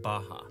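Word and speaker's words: Barra: is the place called Baja bars are pronounced like H in Portuguese this is a new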